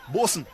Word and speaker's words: Boatswain: There's a name that is quite prevalent in Grenada that is spelt Boatswain, Boatswain, but it is pronounced Bosun.